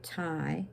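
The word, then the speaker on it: Thay: Now, here's a name, Tai Tan Tu, T-H-A-Y, Tai, T-H-A-N-H, Tan, and Tu, T-U, Tai Tan Tu. So when you see the T-H, it's pronounced as T, and when you see the T, it's pronounced as T.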